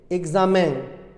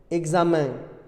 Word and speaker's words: examen: Quand la graphie EN se situe après un E accent aigu, I ou Y, elle se prononce en, ce n'est plus en. Coréen, européen, rien, bien, combien, moyen, et le mot exceptionnel, examen, examen.